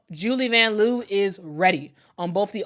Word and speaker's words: Julie Vanloo: We learned during the Olympics that it actually is pronounced Julie Vanloo, but she is cool with us Americans pronouncing it the way that we pronounce it.